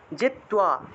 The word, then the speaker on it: জিত্বা: জিত্বা, তয়ের সাথে বফলা থাকায় তুয়া উচ্চারণ, জিত্বা ওয়া ভুক্ষ্যসে, ভুক্ষ্য, ক্ষীয় থাকায়